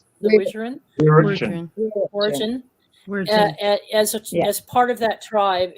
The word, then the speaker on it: Wirritjin: Am I pronouncing that right? The Wirritjin? Wirritjin.